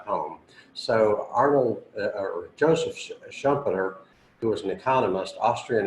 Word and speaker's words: Schumpeter: quote is by Arnold Schumpeter how do you pronounce us that audition Schumpeter Schumpeter okay so it's a quote about Rome